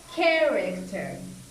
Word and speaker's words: character: right here manager and with character this stress is here at the beginning of the word character now this is the